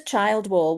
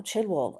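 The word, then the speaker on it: Childwall: to go, you know, this says child wall. Well, how do you say that? Oh, chill wall. Oh, okay. Doesn't read the same way, but okay.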